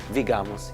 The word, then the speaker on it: Vigamus: And what do you do here at is it pronounced Vigamus? Vigamus. Yes.